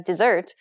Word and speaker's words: dessert: know why that was it's because of stress in desert the first syllable is stressed whereas dessert the second syllable is